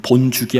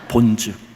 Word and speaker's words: 본즉: 여기도 계속 본죽이 나오죠 여러분 본죽이 아닙니다 본즉 보다는 거예요 에서가 본 것은 히브리어